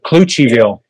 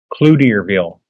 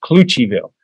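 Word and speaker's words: Cloutierville: uh where mono is furious and it's called cluchiville but it's spelled c-l-o-u-t-i-e-r-ville clue to your bill but it's pronounced cluchiville and if you mispronounce it they might they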